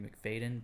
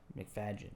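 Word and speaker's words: Macfadyen: colin firth and matthew mcfadyen which i'm pretty sure that's how you pronounce it everyone says matthew mcfadyen but right but the d is in front of the y yeah mcfadgen yeah and uh if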